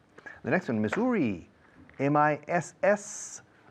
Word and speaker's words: Missouri: The next one, Missouri.